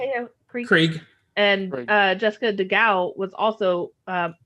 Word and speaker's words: Krieg: Krieg.